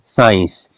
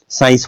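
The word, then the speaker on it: science: होता है इसमें देखिएगा एस के बाद सी है बोलते क्या है साइंस अस और आई की आवाज आती है सी साइलेंट हो गया साइंस बोलते हैं इसमें देखिएगा सी ई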